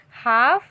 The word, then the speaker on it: half: Half. Halves. Okay. Now here. Leaf. Leaves. Calf. Calves. Now here L will be silent. Now here half is in half. L is silent.